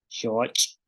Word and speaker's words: xooch': Entonces tenemos palabras como pech, que es garrapata, shoch. Entonces escuchen el sonido que hace pech, shoch, pech, shoch. Entonces en el caso de pech, la cha, pech, tenemos la salida del aire que sale